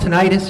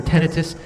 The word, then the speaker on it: tinnitus: There's a thing called tinnitus or tinnitus, however you want to pronounce it.